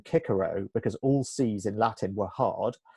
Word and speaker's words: Cicero: Cicero would not have hit Cicero would have pronounced his name kicker oh because all-season latin were hard and in fact